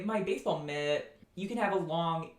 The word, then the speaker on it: mit: this next vowel is a near high near front unrounded short lax vowel and it looks like